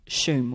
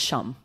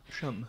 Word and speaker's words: Shum: I mean, yeah, I get like Shum all the time, but it's Shum. Shum. And I have to tell people, no, it's Shum, rhymes with bum.